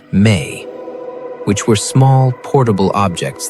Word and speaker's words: me: They speak of the me, pronounced may, which were small, portable objects that held the information of civilization, codes for law, for music, for warfare.